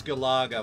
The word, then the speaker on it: Galaga: ever was uh galaga okay pronunciation is galaga we're not going to